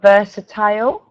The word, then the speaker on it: versatile: Okay, and then we've got versatile.